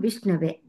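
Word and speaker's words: विष्णवे: Vishnu plus A will become Vishnave. Please pronounce it as Ava plus A. Ava instead of Au.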